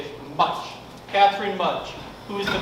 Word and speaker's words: Mutch: Mutch.